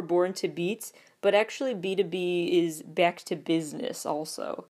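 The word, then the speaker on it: BTOB: Then there's B2B, which for years I thought was B-T-O-B, but no, it's pronounced B2B.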